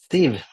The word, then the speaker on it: Siw: my first name, Siw, you have to think of Steve and then remove the T, and then you will get it, because people always get confused with the W in Siw.